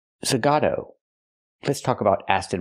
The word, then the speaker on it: Zagato: Martin funky zag what it's not pronounced Aston Martin zagata it's pronounced Aston Martin zagato let's talk about as